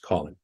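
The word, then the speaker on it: COLYN: five letters for example the c-o-l-y-n Waypoint would be pronounced Colin the flight procedures are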